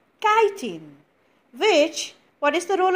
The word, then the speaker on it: chitin: because it is made of a substance called chitin which what is the role of this guiding it protects their soft internal organs what is there inside the body the internal organs the chitin protects those soft internal organs now you can